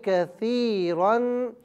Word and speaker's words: كَثِيرًا: 2 زبر رن، کثیرن۔ اب یہاں پر آپ دیکھیں کہ الف آ رہا ہے 2 زبر کی تنوین کے ساتھ لیکن الف کو ہجے میں نہیں پڑھا جائے گا۔ وَيَهْدِي بِهِ كَثِيرًا۔ اب یہاں پر چونکہ